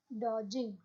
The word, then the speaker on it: dodging: is called as dodging your d is silent okay dodging next is mark's man